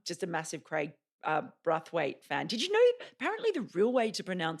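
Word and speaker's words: Brathwaite: mean I'm I'm just a massive Craig uh broth weight fan did you know apparently the real way to pronounce his name is bruffet I've been told it's actually Buffett it's the local way which there you go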